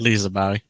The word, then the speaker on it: Liseberg: Liseberg.